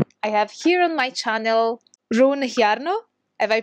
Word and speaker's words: Rune Hjarnø: I have here on my channel Rune Hjarnø. Have I pronounced it right?